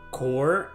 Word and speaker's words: corps: know I can trust I never understood why English the word core is pronounced that way then why have a P why can't it just be corpse corpse you know know it's just core why is a p silent doesn't make any sense